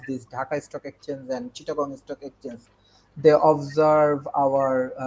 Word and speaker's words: Chittagong: Apparently, how do you pronounce it? Chittagong. Chittagong.